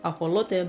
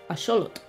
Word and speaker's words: axolotl: Today we're going to be talking about the axolotl, pronounced axolote by modern-day Spanish speakers, and which derives its name from the Aztec god Xolotl.